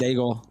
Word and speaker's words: Daigle: having too much fun with you guys with this Lauren Daigle song.